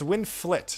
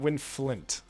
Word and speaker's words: Winflit: It's Winflit, not Winflint.